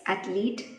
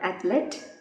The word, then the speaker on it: athlete: They are, the first one is athlete, not athlete.